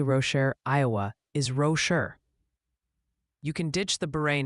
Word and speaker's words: Rocher: Also, quick PSA from the pronunciation police. Multiple sources confirm Prairie D. Rocher, Iowa is Rocher.